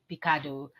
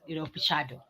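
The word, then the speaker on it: Pichardo: So with these 18.18 meters, this season, so I think Olympic title beating Picado. That was, Pichado. I think I'm pronouncing that right. Is it Pichado? Yes.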